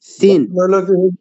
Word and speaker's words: س: আগা সমস্যা সমাধানের জন্য জিহ্বার আগা সামনের নিচে দুই হাতের আগায় না লাগাইয়া একদম ঘুরে লাগায় দিবেন সিন সিন আমরা তো ধরেন বাংলাও উচ্চারণ অনেক সময় ঠিক হয় না আমাদের সিন এবার শোনেন তো সিন হ্যাঁ এবার হইছে সিন সিন একদম নিচে লাগাইছি এবার একদম নিচে লাগায়